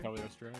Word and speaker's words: Cagliostro: Cagliostro, yeah. It's got the GLI, which is a very Italian thing that people don't often know how to pronounce.